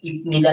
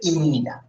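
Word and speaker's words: 입니다: উচ্চারণ হবে কি? ইবনিদা না হয়ে এটা কি হবে? ইমনিদা। ইমনিদা। ইবনিদা না হয়ে ইমনিদা উচ্চারিত হবে।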